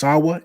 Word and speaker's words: Sawaa: I'm pretty sure it I think it's pronounced Sawaa, SAWAA.